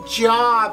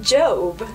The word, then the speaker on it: Job: i thought it said job and since i wasn't looking for one i just totally ignored that book well rudy it's spelled the same but it's pronounced job rudy i hope you